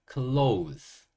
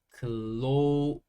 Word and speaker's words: close: 다시 또 오로 발음됩니다 클로는 즈 소리가나요 그래서 close close 이런 소리가 나게 되어 있고 어이 단어의 의미는 가까운 거예요 close 그리고 보다는 약간의 우 소리가 들어가는게 좋을 거 같아요 클로우즈 클로즈 이렇게 말씀하시면 돼요 번 가까운